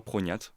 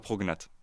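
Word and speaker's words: prognathe: Et il y a des gens qui le prononcent soit prognat, soit prognate. Et là pour le coup, bon bah c'est c'est les gens qui qui choisissent.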